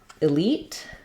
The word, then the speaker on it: elite: to cover the word elite um so in Elite we have second syllable stress and um that means